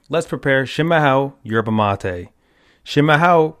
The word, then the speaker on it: chimarrão: Shimaho, pronounced shimaho, is the Portuguese word for traditional yerba mate.